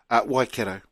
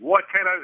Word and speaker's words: Waikato: Waikato. And that right there is my put the boot in. I'm a big advocate of pronouncing our language correctly. Waikato is just on my eardrums. Keithy, Waikato, bro.